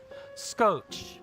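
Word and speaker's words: scoci: Resby says, fun fact, scotchy, I'm sorry, pronounced exactly as Scotch from English. In Romanian, it means duct tape. Oh, that's cool. Scotch or Scotch.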